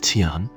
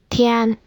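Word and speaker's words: 天: This character is pronounced as Tian, heaven. Here's how you can remember it. Heaven has two extra horizontal lines compared to human. One line stands above human, and the other confines human. Tian.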